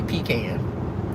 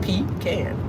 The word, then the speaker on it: pecan: I say pecan. Like it's spelled, pecan. Puh is P-A. Pecan. That's what I would think.